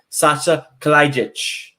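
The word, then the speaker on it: Saša Kalajdžić: And I'm going to name Sasha Kalajic for Kelly.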